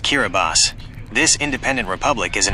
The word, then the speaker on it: Kiribati: Kiribati, pronounced Kiraabas.